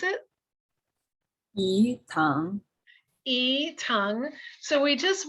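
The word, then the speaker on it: yi tang: can you pronounce it e tongue so we just we don't really pronounce the y particularly it's more just the ee tongue um barley malt sugar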